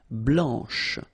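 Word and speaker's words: blanche: final C and then blanch okay remember when you combine this C you get the sound sh blanch okay so BL blanch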